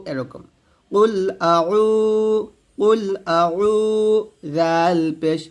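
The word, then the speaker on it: قل: calf উচ্চারণ করি তো কফকে কাফ উচ্চারণ করা যাবে না এটা কফ কুল কুল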